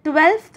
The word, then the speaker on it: twelfth: ऑन द 12th डे, देखो बेटा 12th हम बोलते हैं ना, actually it इज़ the wrong pronunciation, हमें बोलना है 12th, 12th, TWELFTH, इट्स नॉट 12th, इट्स 12th, okay.